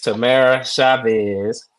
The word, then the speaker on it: Tamara Chavez: got a special guest today we got Miss Tamara Chavez how you doing today hey I'm doing great